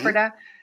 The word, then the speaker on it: Ephrata: Is Ephrata, that how you yep, pronounce Ephrata, Ephrata? yep, hmm Ephrata, yep, Pennsylvania case, and you actually have a video of it on your YouTube link that you yes, sent us.